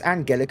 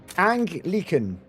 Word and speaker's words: Anglican: So, if they're going to do that, Wait, is it actually pronounced Angelic then? That's such a weird sounding name. That sounds totally wrong. I can't believe that's actually how it's Anglican. Anglican. Anglican. Oh, that makes way more sense.